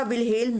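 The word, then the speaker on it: Wilhelm: ठीक है, विलियम wound नहीं होता, विल्हेल्म वुंड है।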